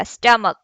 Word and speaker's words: stomach: For example, यहाँ पे stomach है, यहाँ पे ch च नहीं कहलाएगा, क कहलाएगा stomach. तो हमें ये प्रोनाउंस कैसे हुआ?